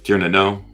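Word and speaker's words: Tír na nÓg: Yeah, Tir na Nog. Tir na Nog, I can't say it right. I'm from Texas. It's the Nog is actually pronounced no.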